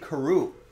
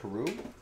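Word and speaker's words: Carroo: a rookie force leonte karoo remember leonte carew i only remember because like his last name reminds rhymes with kangaroo i wonder if that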